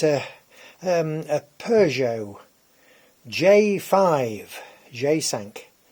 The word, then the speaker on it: J5: um a Peugeot J5 jsank J in French is pronounced G and of course sank five now it's a two